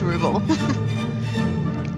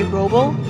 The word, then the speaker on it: Ruble: And pronounced Ruble. I guess some people say Roble, I guess. I say Ruble.